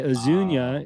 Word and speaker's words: Azuñia: were trademark squatters so that's why aunia is spelled Azu n i a which isn't even phonetically correct in Spanish the IIA because it